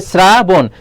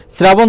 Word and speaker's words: শ্রাবণ: এর উচ্চারণ করতে বলেছে শ্রাবণটা দেখো এখানে রয়েছে শ্রাবণ শ্রাবণ যখন তুমি উচ্চারণ করছো তখন এখানে দেখছো ছ এর মত